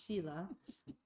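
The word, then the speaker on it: śīla: And then the third is sheila sometimes pronounced sila but I think the think the proper Sanskrit pronunciation because I speak Sanskrit so fluently is sheila.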